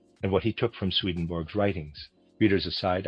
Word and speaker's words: Swedenborg: what he took from Swedenborg's writings. Readers aside, I realize Swedenborg is properly pronounced something like Swedenborgi, but I'm going to pronounce it in the regular way.